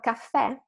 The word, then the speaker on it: caffè: So for caffè, caffè, with the accent, caffè, without the accent.